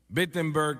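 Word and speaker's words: Wittenberg: Alemania o no perdón empiece con una wu pero se pronuncia como una B witenberg Alemania y clava sus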